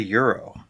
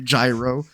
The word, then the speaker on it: gyro: on it why are we calling it a Euro cuz that's how it's pronounced Greek I don't know why it's pronounced that way because it looks like it should be gyro or guo Toro yo Del Toro Euro Del